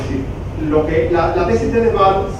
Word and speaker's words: Frans de Waal: Es Frans de Waal, o en Estados Unidos lo pronuncian de Waal, es un antropólogo, un primatólogo.